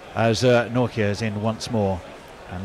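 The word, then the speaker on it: Nortje: African friend who basically it's the noir of Norway and the kir of I care and if you put those two together you've got Nokia and then you're spot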